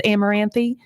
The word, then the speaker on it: Amaranthe: It's Amaranthe? Yes, absolutely. The E at the end, you can sort of hint at or pronounce or not pronounce at all, whatever your preference.